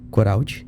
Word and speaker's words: Coraldi: Coraldi?